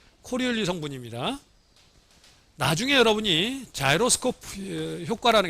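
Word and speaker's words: Coriolis: 요 끝에 S가 있지만 묵음이 돼서 그냥 코리올리, 사람 이름입니다.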